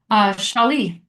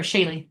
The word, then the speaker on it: Shaylee: Shali or Shaylee, I'm saying it wrong. It's Shaylee.